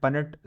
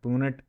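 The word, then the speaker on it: Punnett: तो यहां तक समझ आ गया ना पननेट स्क्वायर किस तरह से ड्रा करना है? पननेट स्क्वायर होता है। पनेट या बाकी कोई प्रोनाउंसिएशन गलत है।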